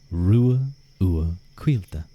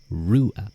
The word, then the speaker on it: Ruadh: that name correctly too my name is pronounced Ru U Quil Ru U Quil Rua but you can call